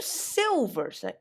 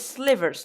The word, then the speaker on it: sliver: And yeah, so today's podcast will be about Slivers, a creature type. You're like, when you first see this, you're like, what are silvers? But it's slivers, not silvers. Just remember that.